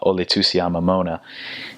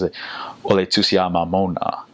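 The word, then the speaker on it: O le Tusi a Mamona: And then, the way they say it is they have like a deeper voice. It would be, the correct way they say is Ole tusia mamona. And so they it's almost like they open their mouths a little bit wider when they're pronouncing the A's and O's.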